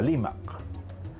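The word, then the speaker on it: Rímac: Inmediatamente esa R se cambiaba a L. Entonces, de un nombre como Rimac, ¿no es cierto?, por evolución de la aymara, por influencia de la aymara, ese nombre se pronunciaba Limac, ¿no?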